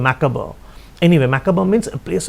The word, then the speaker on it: macabre: The spelling is macabre, but the pronunciation is macabre.